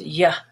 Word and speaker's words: you: the roads are fine you when it's not stressed is ya like sia and here